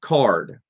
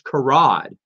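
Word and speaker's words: Karrde: Like Talon Card or Carde, or as I mispronounced them for years, Karad. I thought it was Karad for the longest. I don't know how my brain. And then I heard someone say Talon Card.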